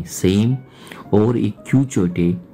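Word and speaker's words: Quichotte: एट the same times छोटा सा हम नहीं जानते क्यू चोटे, स्पेलिंग में रिपीट कर रहा हूँ, क्यू यू आई सी एच O double T ई, ये भी बुक इसमें है।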